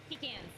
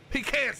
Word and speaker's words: pecan: It's uh pecans. Pecans. Thank you. Or pecans if you say it wrong.